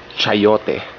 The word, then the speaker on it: chayote: fruit actually in English it's uh I think pronounced chayote with a cha in front but in Filipino